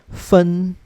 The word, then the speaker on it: 分: Okay, and the pronunciation for the minute would be 分, 分, 分.